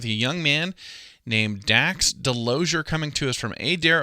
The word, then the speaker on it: Delozier: here well thank you well so i said delozier am i pronouncing your last name correctly yes sir you